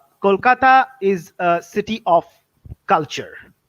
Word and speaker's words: Kolkata: of my city is kolkata how how we pronounce it kolkata kolkata is a city of culture cultural heritage as